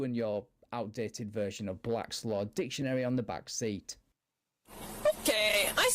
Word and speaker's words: Black's Law Dictionary: Do you see that Black Law's dictionary in the back seat? Black Law dictionary. Okay, first of all, for future reference, it's Black's Law Dictionary, not Black Laws.